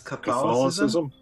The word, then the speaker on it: Catholicism: I mispronounced another word earlier in the podcast. It's Catholicism.